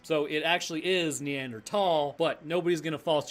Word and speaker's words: Neanderthal: The Germans pronounce t h a l, at least from what I've come to understand, as a t sound, not a th sound. So, it actually is neanderl, but nobody's going to fault you for saying neanderthal.